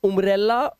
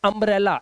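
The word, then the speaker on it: umbrella: यह कह रहा है यू के बाद अगर दो कोंसोनेंट आपको मिल जाए तो यू का जो उच्चारण है वो आ हो जाता है।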